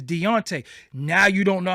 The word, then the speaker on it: Deontay: his name is not Dante that's a sign of disrespect you keep calling them Dante his name is not Dante his name is Deontay now you don't know